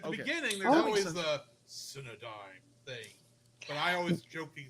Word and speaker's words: Cinedigm: on June 17th, 2014 by G Kids and Cinn Digma. Cinedigma Entertainment. Cinedime. Cinedime. Thank you. Cinedine because it's spelled The only reason I s the